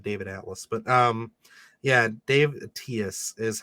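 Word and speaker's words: Daniel Attias: This was directed by is it David Atlas? David Attles? It's Daniel Atias, I believe is how it's pronounced. Oh, Dan Atias, gotcha. I don't know why I said David Atlas, but yeah, Dave Atias is how you say it.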